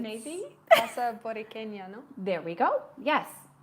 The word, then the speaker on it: Borinqueña: June, and I was actually hoping you could pronounce it. It's maybe? Casa Borinqueña, no? There we go. Yes. So you could pronounce it much better than I can. So Casa Borinqueña, no? Or Borinqueña, I think.